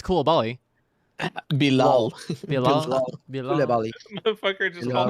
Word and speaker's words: Bilal: Is it Bibla? What? How do you say his first name? I know it's Coulibaly. Bilal.